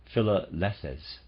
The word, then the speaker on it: Philalethes: Masonic lodge of the Philalethes, searchers after truth, out of a group of local Masons, which was called the Lodge of Triumphing Wisdom. Readers aside, Philalethes, possibly, I'm going to pronounce it that way, it's spelled P-H-I-L-A-L-E-T-H-E-S.